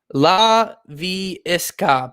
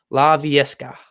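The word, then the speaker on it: Laviska: able to scorch it la vie esca basically just how it pronounce how it looks laviesca la fiasco it's a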